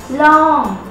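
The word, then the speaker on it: ลอง: D long d m long it's pronounced like an English word long okay that's easy to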